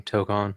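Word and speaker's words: Tōkon: So I believe Marvel, how do you pronounce that? Tokon? That fighting right. game. The fighting game, Tokon, right?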